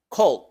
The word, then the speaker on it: cold: pronunciamos call y enseguida la d final no es aspirada O sea que no se libera el aire al final como si estuviéramos pronunciando formalmente no estamos diciendo Cold estamos diciendo Cold sí se articula sí